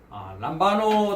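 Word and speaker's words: λαμβάνω: 지난 시간에 이어서 우리가 람바노 단어에 대한 공부를 계속 진행하도록 하겠습니다. 스트롱 번호는 2983번입니다. 람바노라고 발음을 하고요.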